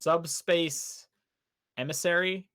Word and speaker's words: Subspace Emissary: The Subspace Emissary, or however it's pronounced.